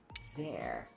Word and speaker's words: there: Esse TH, ele vai ter um som muito similar ao som de V. Então, there.